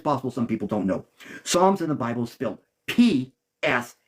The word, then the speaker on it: Psalms: some people don't know Psalms in the Bible spilled PS a l m I know that's not how it sounds but the p is silent so it could throw